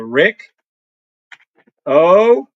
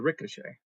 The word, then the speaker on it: ricochet: We call it the let's call it the rick o and he's Irish. That's what that's called. It's called the ricochet.